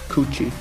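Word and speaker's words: 口: result of rounding up the Japanese character for mouth, which is properly pronounced Kuchi.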